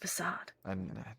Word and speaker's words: facade: mean the world to me Sean but it's pronounced facade I always it up man putting on a facade it's what she does it is her entire